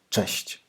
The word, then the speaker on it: Cześć: most popular word is “Cześć!” It is a short word but has three sounds hard to pronounce: cz, ś, ć.